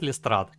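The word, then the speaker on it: Lestrade: И вот, оказывается, говорят Лестрад.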